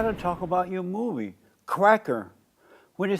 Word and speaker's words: CRACKA: So I got to talk about your movie, CRACKA. When it says CRACKA, are you talking about white cracker? Yeah, yeah. And you got to say it right. It's CRACKA, not CRACKA. cracker.